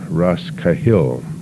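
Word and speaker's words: Rosscahill: used but not on the sign would be Ras kahil spelled r-o-s-s c a h i l l but our pronunciation was it was correct and apparently and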